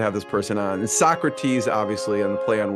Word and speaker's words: Sockrates: I have to have this person on and Socrates obviously on the play on words it's spelled s o c k r A tes